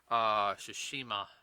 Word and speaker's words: Tsushima: I can never pronounce the last. Tsushima.